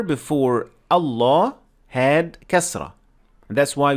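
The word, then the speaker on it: الله: notice right away that we say by default allah so in this case we make the lamb full mouth so that's why we say allah law however the lamb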